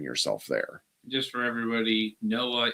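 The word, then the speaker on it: NOAA: Just for everybody, Noah is National Oceanic and Atmospheric Administration. Yes. Not Noah from the Bible. Yes. Because he's dead at this point. I'm just saying it's pronounced the same way.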